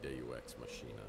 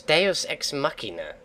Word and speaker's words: deus ex machina: are you thank you daddy wax machine is that really how he pronounced it is deus ex machina Christ on a bike